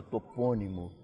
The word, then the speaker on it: topônimo: é uma palavra proparoxítona que nós outros no Brasil pronunciamos com a sílaba fechada topônimo e os portugueses com